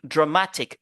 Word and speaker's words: dramatic: d'accord même accentuation mais en anglais c'est totalement différent on dit dramatic dramatique dramatique regardez le choix qui remplace ici le a parce que le a ici a une faible prononciation d'accord c'est pourquoi on dit drmatique et regardez donc l'apostrophe vous vous focalisez sur donc la syllabe après donc l'apostrophe ok dramatic et nous avons aussi